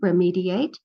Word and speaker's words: remediate: So remedy, remediate. How does the sound change? Have your children put it into words. It's a short vowel sound in remedy. It's a long vowel sound E in remediate.